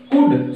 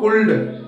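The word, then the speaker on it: could: जो हम प्रोनाउंसिएशन करेंगे उच्चरित होगा वो होगा कुड, नॉट ऑफ कुल्ड, क्योंकि बिकॉज एल से पहले ओ यू है ए या ओ यू आई और एल के बाद क्या आ रहा है इसमें डी, डी एफ के या एम आई, तो एल हमारा जो बीच का है ये हो जाएगा मूव, तो हम इसे बोलेंगे कुड, जो हमारा ठीक प्रोनाउंसिएशन राइट है वो है कुड।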